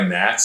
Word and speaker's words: gnats: I was out for a walk getting attacked by gnats, so I texted my wife at the time, like NATS, and she's like, LOL.